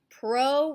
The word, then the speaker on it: pro: out this table so remember pro rhymes with no prokaryotes have no nucleus